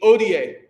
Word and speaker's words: hodie: Don't pronounce the H. Odie.